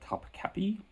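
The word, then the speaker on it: Topkapı: Some films set in Istanbul that come to mind: Topkapi, spelled Topkapi, but it's the I has no dot on it in the Turkish alphabet, and so it's pronounced Topkapi. Topkapi is a 1960s era caper film made by Jules Dassin or Dassin.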